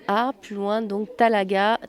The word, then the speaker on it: Talaga: s'écrit h de N a plus loin donc talaga talaga comme ça se prononce t a l a g vous êtes